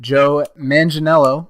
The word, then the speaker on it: Joe Manganiello: mention real quick that Joe Manganiello I believe is how you pronounce it i think i got it down finally joe manganiello is